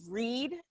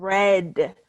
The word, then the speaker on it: read: Alex Angela read a read a changes depending on which tenth so it's read for the for the present tense and read for the past tense